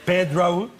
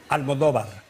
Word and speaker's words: Pedro Almodóvar: So anyway, if you want to pronounce it like if you were Spanish, excuse me that I'm so long, then it is Pedro. Yes, you said that. Pedro, yes. Almodóvar.